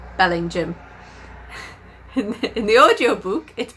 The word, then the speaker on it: Bellingham: a town called Bellingham or it should be pronounced Bellingham in the audio book it pronounced Belling jam it's just like no is no bellingham it's